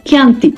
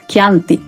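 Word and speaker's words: Chianti: dipulčano alebo aj obľúbené Kanti. Á, myslíš? Hej, ale vyslovuje sa to kananty.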